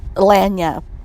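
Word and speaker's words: lagniappe: The word is pronounced lanyap.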